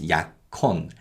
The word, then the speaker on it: 약혼: And this is pronounced 약혼 because the 기역 받침 in 약 combines with a hiet in the following syllable. So it's 약혼.